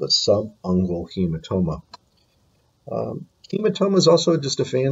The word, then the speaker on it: subungual: Okay, the first one over on the left-hand side, this is pronounced subungual.